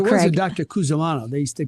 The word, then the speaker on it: Cusimano: Cusimano. They pronounced It was Cusimano.